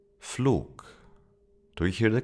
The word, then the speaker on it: Flug: And to complete the trio, we have the G sound, G, that if it appears at the end of a word, it is pronounced as a K, K. Hamburg. Hamburg. Flug. Flug.